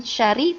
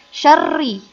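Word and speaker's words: شَرِّ: Nah, kemudian juga di sini jangan lupa ada tasydid, bukan syari tapi syarri.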